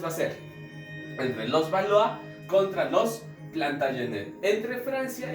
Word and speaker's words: Valois: Se escribe Valois, ¿no? Pero como es francés se dice Valois, ¿ya?